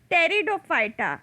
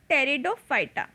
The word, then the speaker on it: Pteridophyta: fighter thalophyta bryophyta and pteridophyta in the third p is silent so it is called as pteridophyta so let us see